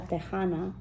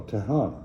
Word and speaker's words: tejana: to call myself a tejana which means a texan oh tahana yeah okay yeah yeah exercise mm-hmm well it's a j because yeah in spanish texas is spelled i got you i